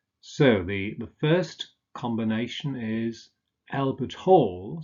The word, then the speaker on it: Albert Hall: So the first combination is Albert Hall, stress on the second element.